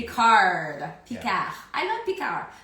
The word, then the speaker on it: Picard: We had done Sarah Donnelly is a comedian in Paris, and last summer we tested some of the frozen foods from Picard, the French frozen food chain.